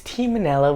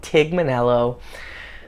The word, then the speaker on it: Tignanello: It's Tignanello, but people pronounce it Tigmanello.